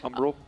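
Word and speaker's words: Umbral: How do you say the the front word? Umbrell. Umbrell. Umbrell. I always want to say umbrage like Harry Potter.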